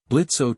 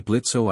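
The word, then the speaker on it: Blitzø: You would be Blitzo, I presume. The O is silent, but yes, growled Blitzo, not lowering his pistol.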